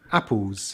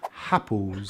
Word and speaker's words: apples: begins with a vowel sound like apples. Apples. It's mistakenly pronounced as happles.